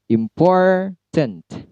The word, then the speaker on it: important: Lalu pada 3 syllable. Important. Yang di stressing adalah for-nya. Kemudian visible.